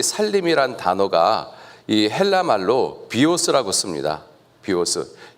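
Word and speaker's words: βίος: 비오스.이 이 비워스를 영어식으로 발음하면 바이오예요.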